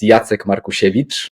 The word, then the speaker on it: Markusiewicz: originally from it's I'm it's yat marevich it's a Polish surname I I admit I